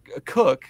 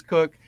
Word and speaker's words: Koch: learned this just now cook is the the way that he pronounces his last name it is not Coke it is cook the mustache man himself